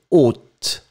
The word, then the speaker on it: haute: Remember, H is not pronounced, so o, and final T either. O, this is the masculine. Feminine form, haute.